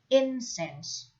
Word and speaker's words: incense: offer incense to somebody incense is an uncountable now with the stress on the first syllable next to make offerings